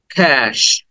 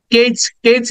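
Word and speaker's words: cash: then next word is ক্যাশ এখানে আমরা কেচ বলে অনেকে হয়তো বলে থাকো কেচ না ক্যাশ ক দেন এ সাউন্ড এরপরে সউন্ড ক্যাশ ক্যাশ ক্যাশ then next word is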